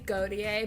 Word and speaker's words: Gauthier: And we have Gauthier. Yeah. Did I say it right? Well, and we say Gautier, but Gautier. it sounds much better when you say it like Okay, Gauthier.